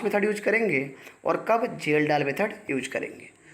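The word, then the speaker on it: Kjeldahl: Nitrogen को estimate करने का 2 मेथड लगता है, एक है डुमास मेथड, दूसरा है जेल डाल मेथड। के साइलेंट होता है, डुमास मेथड और जेल डाल मेथड।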